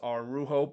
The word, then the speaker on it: Araujo: the side ending again I know it's pronounced our rujo but again it's just